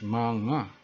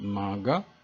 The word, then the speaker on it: mga: mga always remember that if you see mga it means manga and it doesn't sound maga or usually white people make mistakes in pronouncing this because they think that it's not manga but actually it is manga that indicates a plural